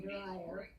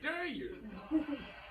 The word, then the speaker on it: Dyer: I'm now a dryer. I'm supposed to be a dyer, but I'm a dryer. What Dyer? Your last name is Dyer, but some people mispronounce it and they say Dryer.